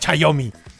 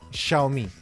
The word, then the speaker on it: Xiaomi: Xiaomi, no es Xiaomi. Por cierto, vamos a terminar esto ya. Un poco de cultura en este punto. Se pronuncia Xiaomi. Repeat after me. Xiaomi.